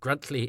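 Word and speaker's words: Gruntliegh: If you don't know what I mean, Gruntley is spelled G R U N T L I E G H.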